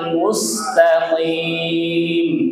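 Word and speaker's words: مُسْتَقِيمَ: Ihdinasiratal mustaqim. Ihdinasiratal mustaqim. Taqim. Qim qim qim. Jangan jim ka qo.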